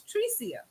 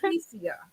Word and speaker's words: Trecia: I know we've been calling you all these years, but the correct pronunciation is Tricia. Tricia.